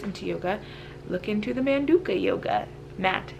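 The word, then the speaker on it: Manduka: it's a Manduca you Manduca that's how you say it man Duke a yoga mat and I also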